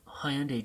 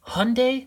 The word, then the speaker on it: Hyundai: I should do the Hyundai Genesis. How do you pronounce that? Hyundai or Hyundai? I've always said it Hyundai.